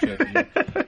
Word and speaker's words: CHVRCHES: u yes um not spelled with a V at the C but yeah no which I think was is that Latino or Roman it's probably still churches isn't it it is churches um they're from Glasgow